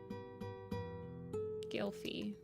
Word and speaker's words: Gylfi: Glyphy? Is it Glyphy or Gylfi? Honestly, the Guardians of the Ga'Hoole names, I don't think I pronounced any of them correctly. Gylfi. Okay. Soren I can pronounce.